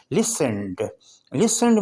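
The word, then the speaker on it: listened: مطلب معنی ہے اور۔ لسنڈ میں ٹی سائلنٹ ہے، ٹی نہیں بولے گا۔ لسنڈ کا مطلب ہے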